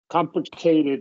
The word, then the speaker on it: complicated: Complicated. Yeah. Complicated. Yeah. So, so one, two, three vowels and we're going to stress the first one.